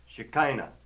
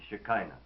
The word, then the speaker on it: Shekinah: might mention here that according to the scholars the accepted pronunciation is shikina and within the scope of that particular pattern of use it is perhaps permissible to say shakina but as with many